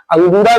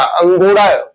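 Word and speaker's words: अंगोरा: उत्पादन किया जाता है अंगूरा भी जिसको लोग बोलते हैं तो यही अंगूरा या एक्चुअल उच्चारण क्या है इसका अंगोड़ा ल है तो अंगोड़ा ल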